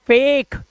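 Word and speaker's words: fake: से ये हो गया ये फटे नहीं है इसे बोलो फटे फटे नहीं है फेक फेक क्योंकि किसी भी वर्ड के लास्ट में अगर इ होता है तो उसका उच्चारण नहीं करते बच्चों ठीक है तो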